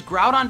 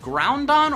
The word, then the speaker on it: Groudon: of the most popular box are legendary Pokemon pronounced wrong such as grout on being called ground on or Groudon and hoo being called ho ho